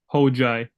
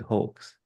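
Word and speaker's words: Hoxhaj: Because I'm Nigerian, I would have want to say it's like it's like the X is silent, right? But I would Mhm. have said hoax. Yeah, so I'm Albanian and Okay. the X and H makes a Mm-hmm. J noise.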